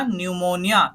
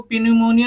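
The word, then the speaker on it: pneumonia: पे निमोना क्या बना निमोनिया क्या बना निमोनिया इसको पी निमोनिया नहीं बोलेंगे पी जो है साइलेंट रहेगा देखो क्या बोला है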